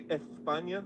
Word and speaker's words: España: España en la casa. ¿Qué onda, mi gente de España? Or I should say España, right? That's kind of how they say it.